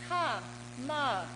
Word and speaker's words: Kamala: I've got another word with 3 syllables. It's ka-ma-la.